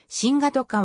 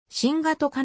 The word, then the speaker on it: シンガトカ: ターミナルシンガトカがはシンガトカはフィジーの年フィジー語の発音に従いシワとかではなく身がとかと記述する方が原音に近いビティレブ島南西部